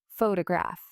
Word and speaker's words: photograph: Take the word photograph. The stress is on the first syllable. Photograph.